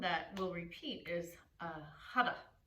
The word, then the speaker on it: Har: And if you like, the sound that will repeat is hara. It's spelled H-A-R. It translates to the infinite one. The R is rolled, so it sounds like hada, hada, hada.